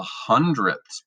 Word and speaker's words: hundredths: we have What's called the hundredths place notice it has a sound at the end and directly to the